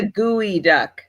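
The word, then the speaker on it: geoduck: want to go higher geod duck what are geod ducks try figure that out too it's a gooey duck is how you pronounce it duck do not Google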